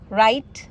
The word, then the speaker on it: write: वो ये है कि जब भी डब्ल्यू आर या एच से पहले होता है तो मैंने देखा है डब्ल्यू साइलेंट होता है।